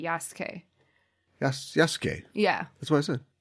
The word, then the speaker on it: Yasuke: like with sue um sometimes you lose them in the pronunciation so sometimes i think it might actually be yasuke yes yes yeah that's